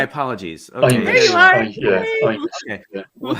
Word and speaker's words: Amis: Yeah, it's pronounced Amis. Amos. Okay, my apologies. Okay, there you are. Amos.